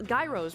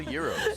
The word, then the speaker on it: gyros: we've got chicken EUR Gyros right that's how you say it maybe for you but they're called Euros Euros Greek rice fries fresh